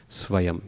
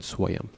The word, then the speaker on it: svayam: So best just to pronounce it as a V because it's slightly closer to the truth. Svayam rather than swayam.